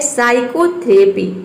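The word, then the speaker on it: psychotherapy: यहां पे नेक्स्ट है साइकोथेरेपी इसमें भी देखिए पी के बाद एस आया है तो इसमें पी जो है वह साइलेंट है 3 लीटर कप साइलेंट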